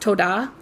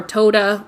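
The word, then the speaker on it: תודה: And thank you is pronounced toda, or toda, or tada.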